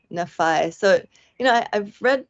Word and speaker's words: Nephi: a comment in here pronounced Nephi with a long I Nei so you know I've